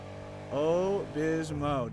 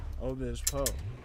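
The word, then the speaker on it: Obispo: Oh Bismo, dude, nice. Oh Bismo. Oh Bispo. Right. Oh Bispo.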